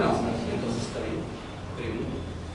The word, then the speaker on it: preví: Preví. No es preveí. Hay muchas personas que dicen preveí.